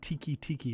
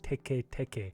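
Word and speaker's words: テケテケ: it'd be it's that yeah so it's not tiki tiki it's actually pronounced teke teke and te ke teke is the um the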